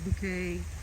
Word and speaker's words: Bouquet: Has Hyacinth Bouquet and Richard Bouquet. That's how she pronounces it.